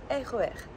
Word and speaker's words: RER: Deixa a língua sempre encostando nos dentes de baixo. E a combinação para você aprender a pronunciar é o RER.